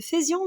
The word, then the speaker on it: faisions: Attention, ça se prononce feu, mais ça s'écrit fait avec AI.